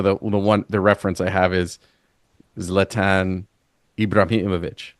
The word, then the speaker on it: Zlatan Ibrahimovic: So the reference I have is Zlatan Ibrahimovic, right?